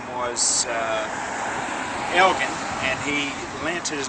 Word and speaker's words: Elgin: his name was uh Elgen and he lent his name to to the city on the condition that they use the proper pronunciation which was in Scottish is a hard G so that's why everybody